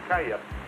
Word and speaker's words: Cali: You were pronouncing Cali, and I'm used to hearing it Calle. So I was kind of, perhaps in Colombia, Argentina, other countries, the pronunciation is different. That kind of threw me when you pronounced it Cali instead of Calle.